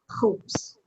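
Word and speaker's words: خبز: The word for bread is khubs. Khubs, without the aleph.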